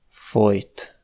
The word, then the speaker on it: fojt: Les mots fojt (étouffer) et folyt (a coulé) s’écrivent différemment mais sont des homophones.